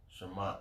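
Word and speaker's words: שָׁמַט: No, Shamat. Shamat, yeah. That's how you pronounce it.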